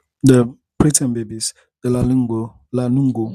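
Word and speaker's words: lanugo: babies are fine the premium babies the lingo lano lano lano spell it l a n u g o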